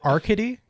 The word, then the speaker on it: Arkady: Do you want to take a chance at pronouncing these guys' super Russian names? No. All right, so it's Arkady.